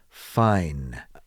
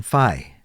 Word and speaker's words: fine: to practice that one fine they have a difficult time pronouncing the n sound n sound so they often just simply say i'm phi and if the person